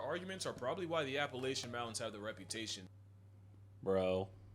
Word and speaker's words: Appalachia: are probably why the Appalachian Mountains have the reputation. bro. If you don't say Appalachia, I'm gonna throw an apple at you. Did he just mispronounce it?